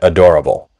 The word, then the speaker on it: adorable: So lots of people delete the schwa, the sound, and adorable. Adorable. So your starting point is the three-syllable adorable.